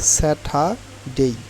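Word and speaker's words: Saturday: স্যাটা ডেই সেটা ডেই এখানে একটু খেয়াল করবেন আর কিন্তু আপনার উচ্চারণ কিন্তু হচ্ছে না কারণ আর এর পরে যদি কনসোনেন্ট থাকে আর কিন্তু উচ্চারিত হয় না বাট আর এর পরে যদি ভাওয়েল থাকে তাইলে আর উচ্চারিত হয়ে থাকে তাইলে এখানে আর এর পরে ভাওয়েল থাকার কনসোনেন্ট থাকার কারণে আর উচ্চারণ হবে না আর টি এর উচ্চারণ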